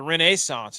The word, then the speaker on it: Renaissance: I think my first thought was Gotterup wins, and that's because this course, the Renaissance is how they pronounce it.